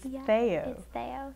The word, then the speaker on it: Theaux: I've been saying it wrong all these years feyo okay fair enough I got it now most people say though or there's that mayor who ran or wit